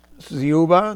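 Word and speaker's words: Dziuba: Mark Zuba. D Z I U B A. I assume that the D is silent.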